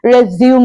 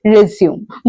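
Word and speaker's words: résumé: करते हैं ना कि रिज्यूम बहुत से लोग इसको आज भी रिज्यूम कहते हैं या रिज्यूम कहते हैं आप इसको सही तरीके से प्रोनाउंस करेंगे और बोलेंगे रिज्यूमे ना कि रिज्यूम सो कैन you please check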